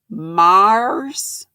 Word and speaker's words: Mayer: to donate terry mayer's last name is pronounced mars with a rolled r girl i can't roll